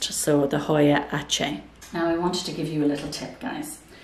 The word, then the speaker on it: Aceh: So nobody knew how to pronounce it, Asa, but I actually Googled it, and it's from Indonesia, and it's a place called Aceh. So it's actually Aceh, the Hoya Aceh.